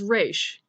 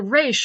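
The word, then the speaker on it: Resh: the Hebrew alphabet is race in America it's pronounced just like the letter R in Israel it's more of a guttural sound Israel that guttural thing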